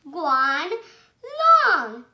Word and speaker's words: Guanlong: I'm going to tell you how to pronounce it. Guanlong.